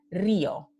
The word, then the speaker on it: río: por ejemplo la palabra río, ¿no? Entonces, aquí, si yo no pongo el acento, esto se pronunciaría río y sería un diptongo.